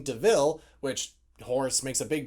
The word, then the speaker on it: de Vil: her adopting the name deville which horse makes a big deal saying oh it looks like devil but it's not pronounced devil and she still has